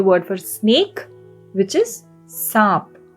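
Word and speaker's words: साँप: And the last word for today is the word for snake, which is saap. Saap. This too has a very slight N sound.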